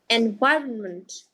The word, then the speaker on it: environment: removed a lot of people mistakenly keep the N silent but that is not the case in this particular word it is not environment or environment or along the ways in which people might pronounced incorrectly so you want to